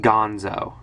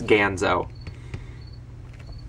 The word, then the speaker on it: Ganzo: like like um ganzo i've heard it pronounced gonzo i pronounced it gonzo for the longest time specifically because it irritated the hell out of my dad but i've given in and admitting it's ganzo i gave in a